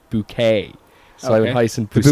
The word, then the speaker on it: Bucket: Her name was Hyacinth Bucket, but you'd say it's spelled book, but you say Hyacinth Bouquet.